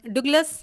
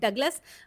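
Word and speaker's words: Douglas: Hotel पहुंच चुके हैं अब और डगलस जो कि मैंने गलत प्रोनाउंस किया था पिछले वॉग में। इट is called डगलस। हमारे जो होटल के रिसेप्शनिस्ट थे ना उन्होंने डुग्लस कहा था। तो आई टूक इट फ्रॉम देयर। बट ये डगलस ही है।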